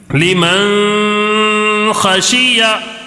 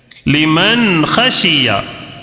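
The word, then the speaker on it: لِمَنْ خَشِيَ: غنہ نہیں کرنا ہے۔ غنہ کیسے؟ لمن خشیہ یہ غلط ہے، لمن خشیہ یہ صحیح ہے، لمن خشیہ، ٹھیک ہے، غنہ بالکل نہیں کرنا ہے۔ اب چلو اس کا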